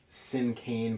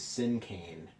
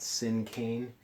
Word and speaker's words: cinquain: you again today we're going to be writing sin cane poetry now I've heard it pronounced sin can and sin cane but it seems like the more common pronunciation for this word is sin cane okay so almost like the word Keane C